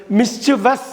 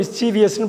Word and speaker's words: mischievous: மிஸ்சிவஸ் அப்படின்னு படிக்கணும், மிஸ்சீவியஸ்ன்னு படிக்கக்கூடாது. நம்ம அடிக்கடி மிஸ்சீவியஸ்ன்னு படிச்சிருவோம், VIOUS இருக்குதுன்னு நினச்சிட்டு படிப்போம். அப்படி இல்லை, அங்கே IOUS இல்லை.